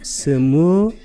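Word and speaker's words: स्मृति: 전면에 마음 챙김을, 요게 아까 사티, 산스크리트로는 스무리티, 이건 리로 발음합니다. 스무리티.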